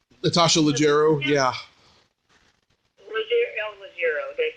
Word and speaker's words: Leggero: Natasha Ruggiero. Natasha Leggero, yeah.